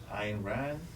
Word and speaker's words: Ayn Rand: How do you pronounce her name? Ayn Rand.